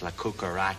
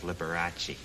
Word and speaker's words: Liberace: especially when he kept referring to me all the time as lukara instead of Liberace but now I can